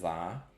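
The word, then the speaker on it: Z-A: Um, I have one more shiny legendary in Pokemon Legends Zaha. And yes, that is the right way to pronounce it.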